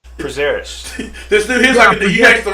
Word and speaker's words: Prazeres: Prazeres.